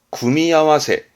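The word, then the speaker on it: 組み合わせ: 발음은 구미아와세, 구미아와세스르 또는 뭐 구미아와세르라는 동사도 있습니다만은, 뭔가 조합하는,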